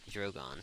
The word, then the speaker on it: Drogon: Targaryen and then I am gonna pronounce the name wrong regal and well it's supposed to be drogon but they're different so it's great her see